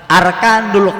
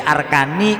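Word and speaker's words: أركانُ: Makanya bacanya arkanu. Enggak boleh arkani, enggak boleh arkana.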